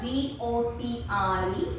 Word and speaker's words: votre: Then next again votre, V-O-T-R-E, that means your, masculine singular. This is feminine singular, votre, again it is vo.